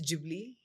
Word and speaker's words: Ghibli: I was calling it Ghibli until Kiran told me it's Ghibli. According to Google Pronounce.